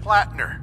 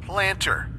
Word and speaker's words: Plattner: Like this one glitch where Sergeant Plattner keeps getting pronounced Planter.